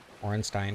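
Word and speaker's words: Ornstein: Orstein should be pronounced like Ramstein.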